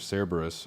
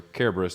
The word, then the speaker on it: Cerberus: Final Fantasy seven dirge of cerberus or Kerberos depending on how you want to pronounce it Care Bears Care Bears